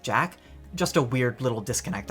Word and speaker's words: Jaq: I don’t know why I instinctively want to pronounce it Jacques, everyone in the world and movie seems to pronounce it Jack, just a weird little disconnect I guess.